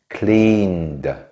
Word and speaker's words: cleaned: examples walked jumped washed cleaned maybe you noticed that the last cleaned has a slightly different pronunciation in this case like a d sound this is because after